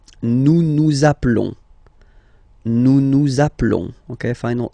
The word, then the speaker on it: appelons: So we've got only one L, like here in the infinitive form. So that's the reason why I've been pronouncing appelons.